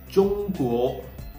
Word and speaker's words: 中国: 中国, 中国. Okay, so we learned that ZH is pronounced just like you pronounce the DGE in judge.